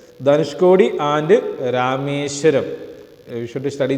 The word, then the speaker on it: Dhanushkodi: Don't forget the name and pronunciation is Dhanushkodi. That's Tamil word. Dhanushkodi and Rameshwaram.